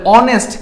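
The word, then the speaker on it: honest: কিভাবে লিখলাম বলতো অনেস্ট তাইলে অনেস্ট এখানে কে উজ্জ্ব আছে এইচ উজ্জ্ব আছে তাহলে এইভাবে করে যেমন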